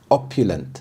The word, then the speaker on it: opulent: Opulent, opulent. The stress is on the first syllable, opulent.